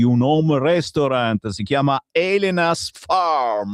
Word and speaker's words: Elena's Farm: Tra pochissimo parleremo di un home restaurant, si chiama Elena's Farm. Ma è giusto, si pronuncia così, Elenas Farm e si trova a Trovo in provincia di Pavia, due passi da Milano, praticamente.